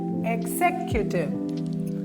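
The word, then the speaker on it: executive: യുടിഐവിഇ എക്സിക്യൂട്ടീവ് അല്ല ആദ്യത്തെ എഗ് എഗിനെ ആലോചിക്കണം എക്സിവ് സെക്കൻ് സിലബിൾ ആണ് സ്ട്രെസ്സ് ചെയ്യേണ്ടത് സെക്യൂ ഇവിടോട്ട് പറഞ്ഞി എക്സിക്യൂട്ടീവ് എക്സിക്യൂട്ടീവ് അടുത്ത് ഞാൻ സ്പ്ലിറ്റ് ചെയ്ത്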